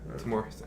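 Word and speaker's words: Tamoor Hussain: Timur Hussein. I pronounced it right.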